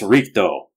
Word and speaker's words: Rikudo: They spell it like R-I-C-D-E-A-U, which makes it sound like it's French or something. Yeah. But it's Rikdo, the way of the 6 paths, which invokes reincarnation.